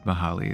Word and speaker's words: Mahali: But if you're looking for a guide on it, yeah, Mahali is probably the best way of going about it. It's tough because it has like a Greek pronunciation that I expect nobody to use.